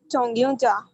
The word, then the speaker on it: 정류장: 정류장. Okay, but you have to 유장. It's you. This pronunciation.